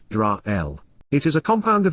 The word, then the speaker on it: Yisrael: It is a name, a proper noun, so it is useful to translate its meaning, and to be accurate, we must also transliterate the pronunciation as Yisrael.